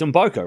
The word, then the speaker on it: Mboko: It's Umboko, right? I've been saying Umboko for... I think I heard her say it. I'm copying what she says, because it's her name. She would know how to say her name.